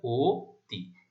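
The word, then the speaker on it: অতি: তাহলে আমরা কি উচ্চারণ করছি, এটা ও তি, কারণ কি আদ্য অ এর পরে ই ধ্বনি দেখতে পাচ্ছি।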